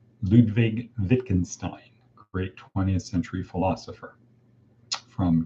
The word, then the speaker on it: Wittgenstein: it to religion for example it's called the wittgenstein limits and that is spelled with a w but it's pronounced wittgenstein ludwig wittgenstein great 20th century philosopher from cambridge so the